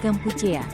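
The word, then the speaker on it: កម្ពុជា: Nama resmi Kamboja dalam bahasa Khmer adalah yang diucapkan Kampuchea.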